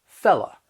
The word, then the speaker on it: fellow: Fellow becomes fella.